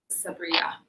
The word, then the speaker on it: Sabriye: So with the Turkish female names, they end with an E sound or a, but in Arab countries, everybody says Sabriye.